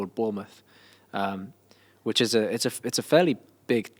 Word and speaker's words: Bournemouth: But the Spice Girls didn't announce a tour in how do you pronounce it? Bournemouth.